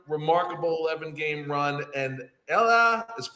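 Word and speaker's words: Elly: 11 game Run remarkable 11 game Run and Ella it's spelled Ellie but it's pronounced Ella De La Cruz unbelievable 21 year old kid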